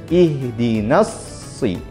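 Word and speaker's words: اهدنا الصراط: Surat al-fatihah yaitu pengucapan ihdinas sirotol mustaqim jadi Sonya bertasydid ingat tasydid artinya ditekan maka soknya tekan ihdinassi ihdinas sirotol mustaqim dan di ayat terakhir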